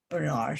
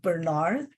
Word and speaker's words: Bernard: see the middle name Bernard. And when I checked, you can say Bernard In fact, there are more people pronouncing it as Bernard, but there are also a few who would say Bernard.